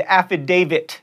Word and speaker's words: affidavit: aalon asterisk not asteris and affidavit there's a t at the end there not a d if you're chuckling that